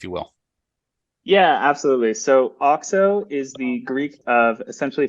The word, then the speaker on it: Auxo: So Auxo is the Greek of essentially fertility and growth. And the goal of us at Auxo Partners is basically to take the finance skills